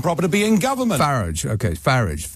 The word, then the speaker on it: Farage: He said Farage there, but I'm pretty sure I've heard him say, Farage, not Farage, Nigel Farage. So I think he changes the pronunciation of his surname depending on which way the wind goes.